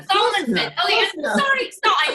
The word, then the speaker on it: Salomonson: Salomonson. Salomonson.